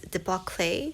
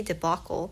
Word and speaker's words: debacle: the Pumpkin Spice Cafe she read the word debacle as debac clay as I was hearing that that kind of caught me off guard and I was like I think she meant to say debacle and then again in